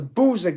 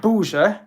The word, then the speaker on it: Buza: Because interestingly, the word Buza in Croatian, which is spelt B-U-Z-A, it looks like buzzer.